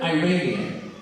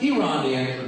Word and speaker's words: Iranian: Effing Iranian. First of all, I explained it's pronounced Iranian, not Iranian.